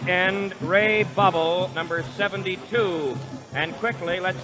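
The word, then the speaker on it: Bawel: at right and Ray bubble number 72 and quickly let's dispel any question about pronunciation of his name spelled b-a-w-e-l but pronounced bubble and let's tackle Dave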